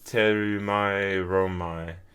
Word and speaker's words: Thermae Romae: But this is Thermae Romae. I think that's how you say it. I actually have no um idea. The Japanese pronunciation is Terumae Romae.